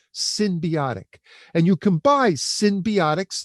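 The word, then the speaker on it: synbiotic: And that's spelled S-Y-N as in Nancy, not S-Y-M, symbiotic.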